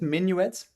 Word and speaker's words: minuet: That's how you pronounce it, minuet.